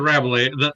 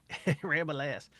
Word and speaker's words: Rabelais: It's Rabelais. The ass is silent, I say. One of those weird French names. It's not Rabelais. ramble ass.